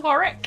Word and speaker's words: Warwick: it's pronounced Warwick, and it's just nice to get people's names.